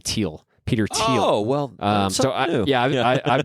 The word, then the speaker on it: Thiel: I think he actually pronounces his name Thiel.